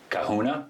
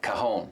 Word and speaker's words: cajon: And so if you look at the word cajon, which is C-A-J-O-N, the J is silent in Spanish because cajon means box or drawer in Spanish.